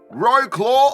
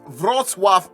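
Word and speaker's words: Wrocław: and it's been a while but I'm back Road claw or as it's pronounced vroswaff Poland Saturday the 26th of August will be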